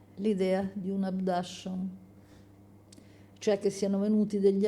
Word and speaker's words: abduction: E chi dice di aver sofferto di abduction, scusate, scrive abduction ma si legge abduction, soffre di un delirio,